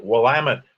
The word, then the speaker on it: Willamette: memonic i guess um the name is pronounced willamette dammit uh however the earliest